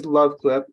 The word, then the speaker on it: LuvClip: So the product name is LuvClip, and love is spelled LUV.